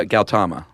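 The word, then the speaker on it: Gautama: know that actually Siddhartha okay so the H is silent uh galtama nice yes I actually looked at pronunciations or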